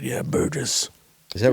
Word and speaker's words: Burgess: Burgess. Is that right? Burgess.